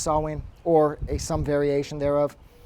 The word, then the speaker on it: Samhain: like to say that i know that it's pronounced sawwin or a variation thereof and it's not samhain i probably neglected to point this out in